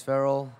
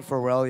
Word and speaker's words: Farrell: I know, it's Farrell. I called him Pharrell yesterday. I've been mispronouncing that name all across the year.